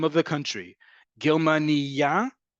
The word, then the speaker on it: Germania: Germania, emphasis on the penultimate syllable, name of the country. Germania, emphasis on the last syllable, a female German person.